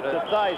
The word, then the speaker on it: Theismann: To Theismann, yeah. So it would rhyme with Heisman.